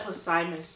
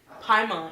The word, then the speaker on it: Paimon: What how you say? Paimon? Can we say his name? I said Posimus. I was going to say Poseidon, but I think what'd you say? Paimon? Paimon, yeah, that's what it is.